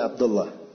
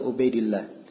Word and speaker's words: Ubaidillah: kalau kita lihat tulisannya kelihatannya bacaannya Abdullah ya tapi itu kurang ya harusnya bacanya Ubaidillah Sebab di buku biografi disebut namanya Ahmad bin Ubaidillah bin Kadis bukan bin Abdillah kalau mau diperbaiki perbaiki